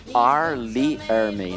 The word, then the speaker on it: R. Lee Ermey: Na verdade, até quando vai falar o nome do cara, tem que pronunciar o R antes, né? Tipo, R. Lee Ermey, né?